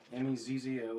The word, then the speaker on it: mezzo: M-E-Z-Z-O is mezzo, and that roughly translated means medium. And piano, it's spelled just like piano at your house, just piano.